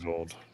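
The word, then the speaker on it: Greenwold: Vold, Greenvolt. spelled like WOLD, like a German W.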